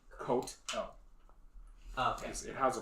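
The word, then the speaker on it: catl: But it's pronounced coat L.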